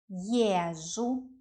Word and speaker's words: езжу: Я езжу, езжу, е is stressed. Я езжу, ты ездишь, он, она ездит, мы ездим, вы ездите, они ездят. The stress is always on the first syllable.